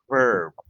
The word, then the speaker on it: verb: It's not word, it's verb. verb Very good. One more. verb Verb. verb Very good. With the letter V.